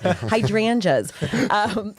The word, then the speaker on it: hydrangeas: Hydrangeas.